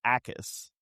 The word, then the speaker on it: Jackus: Gabe Jackus. Okay. I think the J is silent. Oh, the J is silent. I think it's Ackus.